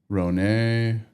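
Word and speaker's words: Rhône: How do you say Rhone? Is it just Rhone? Like Côte de Rhone or Rhone? Rhone. Rhone. Yeah.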